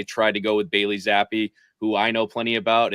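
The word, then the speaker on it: Zappe: playoffs just Z Bailey zappy zappy rhymes with crappy is that okay I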